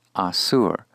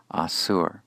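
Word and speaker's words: אָסוּר: But if instead the focus is on the effect, one who is bound, this is supplied with the call passive participle pronounced asur, asur. Here is a biblical excerpt. Melech asur barahatim.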